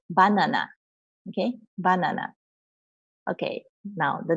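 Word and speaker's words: バナナ: Okay, now in English, we pronounce this as banana, right? But you cannot say banana in Japanese, you have to say banana.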